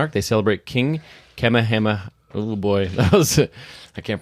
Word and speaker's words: Kamehameha: I found how to pronounce the king's name. All right, go for Okay. it. Kamehameha.